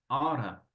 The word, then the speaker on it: ought to: But what happens in this case es que esto lo voy a pronunciar como oughta, ¿ok? Para conectar este con el to, entonces puedes decir oughta.